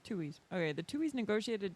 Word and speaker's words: Tuohy: The Tuhoys? Tuies. Tuohys.